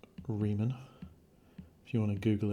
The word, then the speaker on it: Riemann: say it's the left handed or right hand Riemann sums Riemann Raymond claiming I know it's an imprint separately no it's not Ramon that's not right and it's not re men